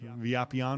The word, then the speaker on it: Villapiano: interview with Phil villapiano's villapiano's yeah let's build a lobby on oh okay but people say villapiano's see I almost want to pronounce that that double owl in Spanish via peon oh yeah you know